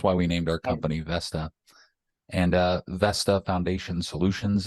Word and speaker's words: Vesta: was horrible branding phonetically it's a little challenging the V sometimes sounds like an F or a B but uh Vesta is actually the Roman